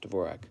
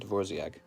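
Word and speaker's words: Dvořák: musician is divor Dvorak it's pronounced dvor or divorc I think it's just pronounced Dvorak I think I heard Somebody pronouncing it dorc here we go Mike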